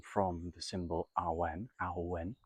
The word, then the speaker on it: Awen: Awen, it's pronounced slowly, A-W-E-N. It's an old Celtic Welsh word, medieval, possibly even older.